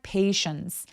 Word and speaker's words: patience: SH처럼 입술을 쭉 내밀어 주셔야 돼요. 단어 중간에나 뭐 C 요런 거 있을 때 보통 SH처럼 입술을 쭉내미는 바른 기호가 들어가 있거든요. 인내심 pati 요렇게 입술을 쭉내밀어서 발음하면 훨씬 더 쫀절한 발음을 하실 수 있어요.